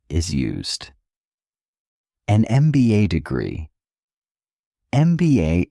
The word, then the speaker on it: MBA: An MBA degree MBA is pronounced MBA starting with the vowel sound e.